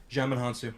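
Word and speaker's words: Djimon Hounsou: wizards who gives Billy his did your mana Djimon Honsou yes Shazam say my name Gemma Honsou that is correct putting on DC you has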